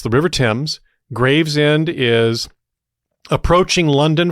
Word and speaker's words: Thames: Not Tames. Not Tames or Thames. Thames is right out. The river Tims.